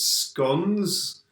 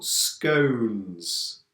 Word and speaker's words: scones: is this word yeah there are two pronunciations scones for some people or scones for other people now this is a